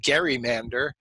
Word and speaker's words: gerrymander: it is so I I insist on saying gerrymander because marry it was his name but a lot of people will solutely insist on saying gerrymander even though it's ridiculous and if you look